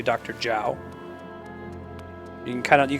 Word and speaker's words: Zhao: what else is there zh is usually like a j sound it's not quite J but that's that's much closer than a z sound so like Zha AO you wouldn't pronounce that Dr Zhao you'd say Dr Jiao